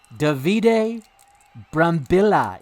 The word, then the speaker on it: Davide Brambilla: Davide Brambilla is the correct way to pronounce it, I'm told.